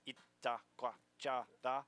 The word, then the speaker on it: Itacoatiara: How do you pronounce it? It's Itacoatiara. There you go.